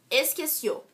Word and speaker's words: esqueció: Se ela for a última sílaba, exemplo, esqueció. Esqueció é o verbo esquecer no pretérito indefinido, certo? A sílaba mais forte é o cio, que é a última sílaba, oxítona.